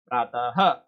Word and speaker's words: प्रातः: अब आप इसको बोल के देखिए, प्रातः। तो इन सब का उच्चारण स्थान जो एक ही चीज से निकल रहा है वो आपका है कंठ।